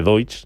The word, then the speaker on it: Deutz: Se dice Deutsch, es la terminología alemana, pero aquí en España lo pronunciamos de otra manera, ¿no?